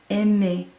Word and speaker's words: aimez: or the formal you, vous, you're going to hear vous aimez. So the EZ is making that A sound in French, and again you're going to hear that S slide into that A.